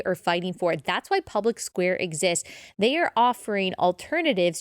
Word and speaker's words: Public SQ: It's pronounced Public Square, but it's spelled Public SQ.